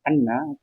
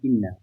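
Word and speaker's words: أنّ: Jadi kalau ada lau setelahnya kok ada anna, maka ini dibacanya a gak boleh inna karena ini menyimpan lau sabata anna.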